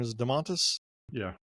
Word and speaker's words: Domantas: Is it Domantas? Yeah. Domantas Sabonis.